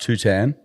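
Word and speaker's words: Tuhtan: It's it's pronounced Tutan.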